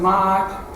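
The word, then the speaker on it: Maat: in english it's m-a-a-t i can't actually pronounce it but mat comes about as close as you can get it is sometimes spelled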